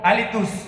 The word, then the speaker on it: Hálitus: Están disponibles para descargar completamente gratis desde SoundCloud, nomás poniendo el nombre del grupo, Alitus, con H al principio y acento en la A, y de inmediato van